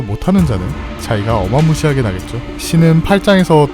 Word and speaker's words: 신: 신은 일본어 발음을 기준으로 삼은 것이며 마음 심을 뜻합니다. 신이라고 읽을 때 영어 신의 발음과 비슷하며 이에 연관도 있어 보입니다.